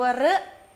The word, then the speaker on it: ฤ: 2 2 ไอ ตัว รึ รึ นี่ คือ สระ อะไร ลูก สระ รึ รึ คือ สระ ล่ะ สระระ สระ อึ ตัว รึ ออก เสียง เท่า กับ ตัว ตัว ร เรือ เสียง รอ นี่ เป็น เสียง ที่